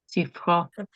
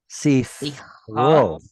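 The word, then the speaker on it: סִפְרוֹ: The word sefer has a tzere, right? Mm-hmm. When it becomes his sefer, what does it turn into? Sifro. Sifro. Sifro. And that E sound, the chiric E sound right there, tells you this is the original form of the word. So this tzere is telling us about an original E sounding vowel.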